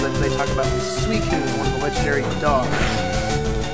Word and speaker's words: Suicune: And they say that the proper pronunciation is actually Suicune. Which I don't believe, because when I watched the Entei movie back when I was just a wee little lad, it was pronounced Suicune, because it was Entei, Raikou, and Suicune.